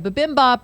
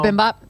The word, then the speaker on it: bibimbap: They have bibimbap on the menu. They have this, I want to order that just to say that. I know. What, bibimbap?